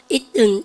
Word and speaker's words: eaten: eaten, 트가 무성음화됩니다. 약화된다.